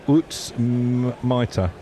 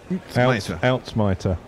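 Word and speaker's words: uitsmijter: It's Dutch. Pronunciation, Utsmiter. Outsmiter.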